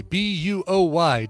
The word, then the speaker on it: Dana Bowie: Yeah, that was Dana Bowie, Buoy, Dana Bowie. Don't spell it like David Bowie, because that's not at all what the name is.